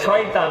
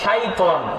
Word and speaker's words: شيطان: এইখানে ভুল আছে, শয় হয়ে গেছে, শয়তান হয়ে গেছে, হবে শয়তান না শাইতান। কি হবে? শাইতান।